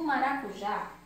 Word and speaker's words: maracujá: Vamos fazer a chamadinha do maracujá. Maracujá! Eu chamei o maracujá. Qual foi a sílaba mais forte? Isso mesmo, o já. Maracujá. Então, como a última sílaba é a mais forte, é a oxítona.